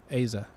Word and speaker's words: Eiza: Eiza. Eiza, yeah, because we're having her on the pod soon.